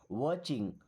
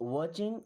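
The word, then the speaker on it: watching: यानी कि people are आर मी्स हैं वाचिंग। अब इस वर्ड में टी साइलेंट है। यानी कि सी एच के पहले अगर टी आता है तो टी साइलेंट होता है। सो वाचिंग मींस देख रहे हैं।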